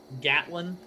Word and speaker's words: Gatlin: uh atlan gatlin yeah gatlin i think it's as in gatling without the g yeah gatling yeah